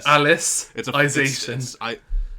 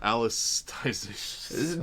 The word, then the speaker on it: Alicization: Like I stopped reading like Alicization, or I can never pronounce it correctly. Alicization. Alicization. There's no T.